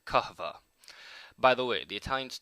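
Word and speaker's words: kahve: the Ottoman Empire where the Turks called it kaha by the way the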